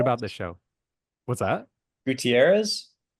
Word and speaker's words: Gutierrez: Gutierrez? Gutierrez, yeah. There it is. That is spelled like it's like a very common last name.